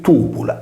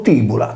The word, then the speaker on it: Tùbula: Gemellas è diventata una città fantasma poiché finora si era pensato che la città di Tubula, erroneamente pronunciato Tibula, capolinea della strada Tibulas-Caralis, fosse situata nei pressi di Castelsardo.